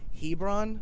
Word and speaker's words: Hebron: Now you're from, and I apologize if I butcher the name of the city. Hebron? Yeah. Is it Hebron?